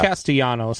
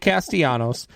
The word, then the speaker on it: Castellanos: So you butchered the name a little bit there. It's Nick Castellanos, but that's all right.